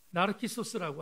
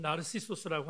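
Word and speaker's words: Narcissus: 그 청년의 이름을 나르키소스라고 합니다. 영어 발음으로는 나르시소스라고 하는데 이 미소년에 대한 상징적인 의미가 뭘까?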